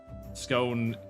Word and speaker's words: scone: People keep telling me that they're so great, but I have yet to yet to have any scone as in cone.